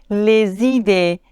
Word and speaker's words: les idées: Mais attention, quand un nom pluriel est commencé par une voyelle, on doit faire la liaison. Les idées, les amis, ici, le S se prononce Z.